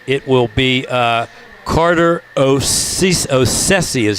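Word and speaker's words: Osadciw: will be uh Carter osisi is how you say that it's an amazing name o-s-a-d-c-i-w but they tell me it's pronounced osisi remarkable however freedom and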